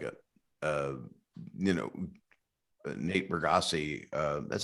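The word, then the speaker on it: Bargatze: know uh like a uh you know nate bergassi uh that's how you pronounce his last name right yeah bargatzi yeah burgotze he's so nice um he's you know he's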